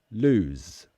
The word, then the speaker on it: lose: the e loose but the opposite of win lose lose it's as sound it's a voiced sound it has vibration in the throat lose lose